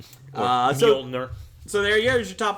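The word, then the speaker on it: Mjölnir: Well, as Kat Dennings pronounced in the Thor movie. Yep, that's it. Mjolnir.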